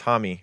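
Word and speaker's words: Jaime: Uh Hami. I think it was Hammy Ramirez Gomez.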